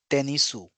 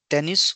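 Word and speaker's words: テニス: pronunciation it is not tenisu it is not tenisu it is tennis only so when the word ends with u then we very lightly we say o that is tennis tennis tennis it's it's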